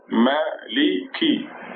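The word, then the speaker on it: مالك: There is Ma, see the meme with a fatha on it, Ma, and then the lam in the middle of the word with a kasra under it, Mali. And then the kaf, remember the kaf? With a kasra under it makes it ki.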